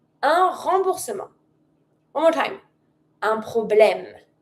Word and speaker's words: remboursement: A refund is un remboursement. Remboursement. And you don't pronounce the t. Un remboursement.